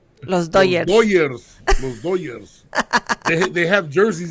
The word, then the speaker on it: Los Dodgers: Dodger fan, obviously, but you're not saying it right. You're supposed to say Dodgers. Los Dodgers.